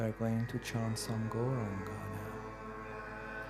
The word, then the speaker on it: Gauranga: going to chant some gauranga now koranga has four syllables and and we start